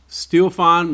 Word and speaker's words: Stiofán: Stiofán McGillnorth, right? Did I say it right? There you go.